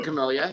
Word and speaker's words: Camellia: Let's move on to our next member, Camellia. Is that how you pronounce that name? Camellia Falco. It was a Camellia, yeah.